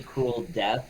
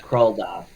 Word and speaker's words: Kroldoff: So when you say his name, don't say cruel death because that just sounds wrong. It's Kroldoff.